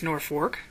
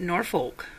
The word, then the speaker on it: Norfolk: brewed in northeast Nebraska is it pronounced Norfork or is it Norfolk if you go back